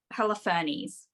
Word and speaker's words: Holofernes: It's Holofernes.